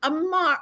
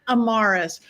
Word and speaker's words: Amarus: one and only Amar. I was gonna say your last name wrong, so I said your name wrong. Amarus.